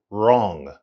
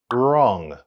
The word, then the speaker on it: wrong: don't get me and remember the W is silent in the word wrong wrong don't get me wrong